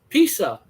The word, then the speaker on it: Pisa: Pisa. Like pizza, except for with an S.